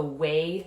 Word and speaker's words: Wei: Large intestine 4 also regulates what we call the Wei Qi. Wei is spelled W-E-I.